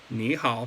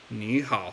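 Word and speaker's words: 你好: But if you were to say ni hao, like third tone, you didn't do the tone changing rule, like, they would understand you, like, no problem. But just know that, like, that's how you're supposed to pronounce it.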